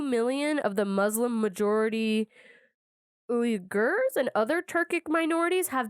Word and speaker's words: Uyghur: Yeah, the Uyghurs. Yeah, I've been hearing about that. It's deep. Thank you. Is that how you pronounce it, Nick?